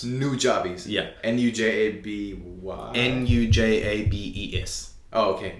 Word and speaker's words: Nujabes: five only nujabes first and foremost who's that nujabis um rest in peace he was a Japanese